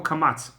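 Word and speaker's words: קמץ: pronunciation of the vowel Kamatz. So Patach, everybody pronounces as A. But Kamatz, the Ashkenazim pronounce it as O, or something close to it, and the Sephardim pronounce it as A.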